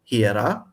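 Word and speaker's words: ἱερά: So it's hiera and hiera with a long a at the end. Well, and you aspirated that too. Yes. Some people might not have caught it, but you said he and not e.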